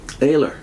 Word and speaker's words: Oehler: The first one, can you say how you pronounce his name? Oehler. Oehler. Gustav Oehler. Oehler. I would never say Oehler.